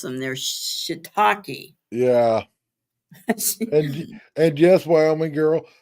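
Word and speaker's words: shiitake: the name so she told me how to pronounce them they're shitaki yeah and and guess wyom me girl most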